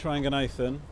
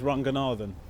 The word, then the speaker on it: Ranganathan: romes rangan aan um that's actually pronounced incorrectly how is it supposed to be pronounced well the Sri Lankan pronunciation is rangan Aran okay my parents are very worried about us assimilating into UK culture so they taught us how to pronounce it with an English accent sometimes English pronunciation sounds